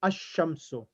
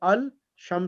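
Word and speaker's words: الشام: is after the lamb like allah will become asham okay pronounced in asham it was al sham so big becomes asham so so there's a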